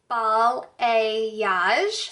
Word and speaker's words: balayage: lot of people get confused on how to pronounce the term it's all a yash so like not biologically that's kind of what